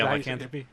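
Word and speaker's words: lycanthropy: on uh liking how do you say it Lykan thropy yeah L anthropy L anthropy there you go that sounds better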